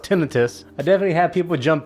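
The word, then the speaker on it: tinnitus: Yeah, I mentioned that I had tonitis. I think well, up to this point, I think uh it's pronounced tinitus.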